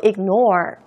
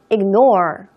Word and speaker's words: ignore: 무시하다는 영어로 ignore. ignore. ignore. 지금 G 발음 거의 안 하고 있죠?